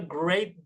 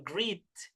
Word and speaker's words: great: Have a great day. Nah, ini pelafalannya seperti ini nih ya. Nah, seperti ini. Great. Great. Coba dilihat lagi tulisannya. Great. Jadi ingat ya, yang E ini dibaca E. Jadi bukan greet.